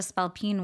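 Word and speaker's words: spailpín: a spine and I didn't know what a spell Pine was and it is an Irish word in Irish you spell it s p a i l p i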